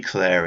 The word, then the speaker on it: Clear: They say Claire in the film, for some reason it's spelled clear, but I guess I can say Claire. It just sounds a bit weird to me.